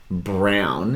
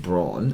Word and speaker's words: Braun: emigrated from germany and people couldn't pronounce his name and so they just started saying brown instead of brawn and he just let